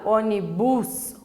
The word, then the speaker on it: ônibus: Olha só, quando eu falo ônibus, o bus é a sílaba mais forte. Só que daí fica estranho, né? Ônibus é ônibus. Então, por isso que a letra O, então, ela vai ser acentuada e não o bus.